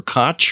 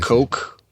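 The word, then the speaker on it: Koch: Robert give is it is it kooch or or or cotch or there's so many different pronunciations here H oh I don't know I think it's robt coke uh give a presentation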